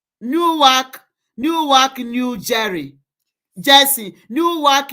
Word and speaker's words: Newark: So this uh news is um Newvac, New Jersey, USA.